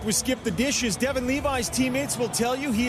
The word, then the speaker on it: Levi: some people who say his name should be pronounced leavy that know the family he insists he's devin levi and as a matter of fact you cannot